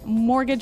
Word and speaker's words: mortgage: I mean, there's a this strange mortgage with a t. Yeah, it has a t in it, but you don't pronounce it. You say mortgage, mortgage.